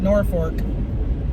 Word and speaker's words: Norfolk: It's F-O-L-K, not F-O-R-K, but they call it Norfolk. But there's no R, like it's folk, F-O-L-K. And then there's a Madrid, but they call it Madrid, not Madrid.